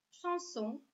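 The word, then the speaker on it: chanson: Следующее правило. Буква сочетания SH читается как Ш. Шансон.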